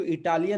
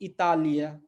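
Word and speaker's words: Itália: फिर से यहाँ पे हम इसको इटालिया नहीं पढ़ सकते, क्यों, क्योंकि टी जो है त है, तो इतालिया, ठीक है, इतालिया।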